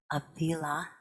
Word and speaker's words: Avila: quote in malagro's book as well by elena avila i pronounced her last name correctly a-v-i-l-a i love